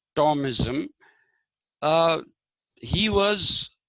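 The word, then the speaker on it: Thomism: called tomis t h m i m but pronounced Tom ISM uh he was called the christianized Aristotle okay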